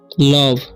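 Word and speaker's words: love: इ है ठीक है तो लास्ट में ई है और सेकंड में ओ है तो ओ के साथ लास्ट में ई आता है तो ओ का उच्चारण हो जाता इस पढ़ते हम लोग लव ठीक है लोभ नहीं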